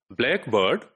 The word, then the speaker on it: blackbird: In compound words, like, for example, blackbird, blackbird. So which syllable is to be stressed, right? And typically in this word, it is the black which is stressed. So blackbird, blackbird, right?